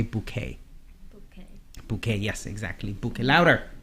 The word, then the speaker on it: bouquet: of it is different usually French words they don't pronounce the end of the word or the last consonant the T at the end for example they won't pronounce that so we'll say bouquet notice there's no -